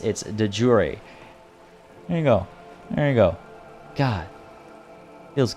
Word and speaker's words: de jure: looking up its etymology, it actually never went through French. It went straight from Latin into English, which is why it holds on to a more Latin English pronunciation as opposed to a Latin French English, which is what many words are in English.